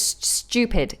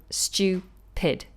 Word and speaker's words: stupid: My question is how to pronounce so it's stupid is the pronunciation. Okay, so it's stupid, stew. So the J in phonetics, in the phonetic alphabet, represents y. So stupid.